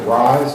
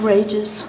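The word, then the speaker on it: Reyes: Is it Rise, is that how you pronounce it? Rages. Rages. R-E-Y-E-S? Okay.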